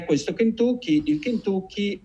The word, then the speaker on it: Kentucky: E Kentucky, che si pronuncia Kentucky e non Kentucky, come la maggior parte delle persone che hanno gli Stati Uniti sempre in testa tendono a pensare, il Kentucky, detto in